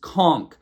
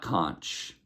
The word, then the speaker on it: conch: I know it's spelled conch, c o n c h, but it's pronounced conchk. Ko n k. Conchk. It is a conch shell, not kunch.